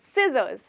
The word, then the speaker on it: scissors: इसको हम यहाँ पे हमारा लेटर जो साइलेंट होता है वो है C। तो दोस्तों इसे हम बोलेंगे scissors।